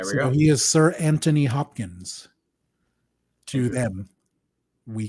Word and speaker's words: Anthony: But on IMDb, by the way, his name is spelled Anthony with no H. I did not know that. Yeah. With or without an H, that's how British people pronounce it anyway.